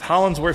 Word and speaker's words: Hollingsworth: Hollingsworth sounds just like Absolutely. Spelled just like it's spelled.